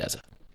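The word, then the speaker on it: Eze: mine in years and and say it Eza. Perfect. We'll stick with Eza then because I I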